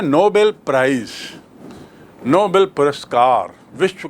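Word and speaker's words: Nobel: तो आपको स्पष्ट याद रखना चाहिए कि नोबल मतलब नेक, नोबल मतलब उच्च श्रेणी का, और नोबेल एक व्यक्ति का नाम जिसके नाम से पुरस्कार है।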